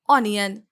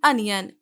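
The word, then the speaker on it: onion: अनियन, इसको mostly लोग पढ़ते हैं ऑनियन, लेकिन इसकी करेक्ट प्रोनाउंसिएशन है अनियन।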